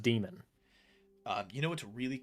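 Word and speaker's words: daimon: is actually pronounced a it's just pronounced demon uh you know what's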